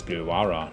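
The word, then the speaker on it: Bhilwara: Oh, it's Bilwara, not Bill 1 even.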